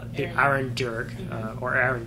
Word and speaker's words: Dearg: So that's why it's called the Aaron Jerg or Aaron Jerg. It's a hard J, but it's spelled with DEARG.